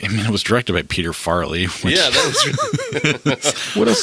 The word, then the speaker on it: Farrelly: and I think it was directed by Peter Farrelly. Yeah, that was. What else has Peter Farrelly done? He's one of the Farrelly brothers. Farrelly. Okay, I'm sorry. I thought you said Farley specifically.